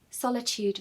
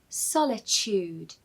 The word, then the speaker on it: solitude: The T in this word is really a CH sound. So what you want to say is solitude.